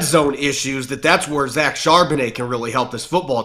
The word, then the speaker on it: Charbonnet: I thought Zach Charbonnet, how do you pronounce his last name? Charbonnet.